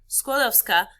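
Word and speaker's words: Skłodowska: guys remember marie curie squadowska squad of scott three syllables skodovska she together with her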